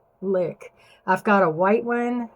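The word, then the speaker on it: Lique: I've got different colors, but they're from a company called Lick, and it's spelled L-I-Q. I really do have, this might have worn off. It's L-I-Q-U-E, Lick.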